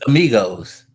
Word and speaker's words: amigos: You speak English that bad that you can't even take a Spanish word that's commonly used in English language and say the A. It's amigos. It's not that hard. It's three syllables.